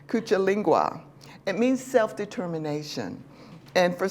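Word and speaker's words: Kujichagulia: The second one is kujilinga. I said it wrong already. Kuchalingwa.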